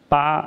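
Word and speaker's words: 八: And in China, clients love the number 8 because its Chinese pronunciation, ba, sounds like the Chinese character fa, and which means fa means become rich.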